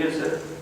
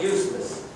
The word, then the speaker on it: Yusuf: Can you say Yusuf? Yusuf. I said it perfectly. How long why is that? They got it perfect. My wife, she still pronounces it useless.